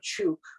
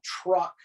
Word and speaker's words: Chuuk: The island of Chuuk, which originally was called Truck, they couldn't pronounce it, went Truck, and then it went back to Chuuk, the original name.